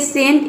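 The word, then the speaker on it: scent: यदि सी से पहले एस आ जाए तो सी साइलेंट रहता है। जैसे कि यहाँ पे देखिए सेंट, इसमें सी से पहले क्या आया है, एस आया है तो इसमें सी साइलेंट है।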